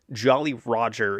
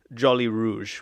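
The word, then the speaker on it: joli rouge: red yep so the the french term is jolly rouge which was pretty red and pirate crews would put up this red flag to signal no mercy which meant we're going to kill everybody who tries to resist the anglican english mispronounced this allegedly as jolly roger and that's how it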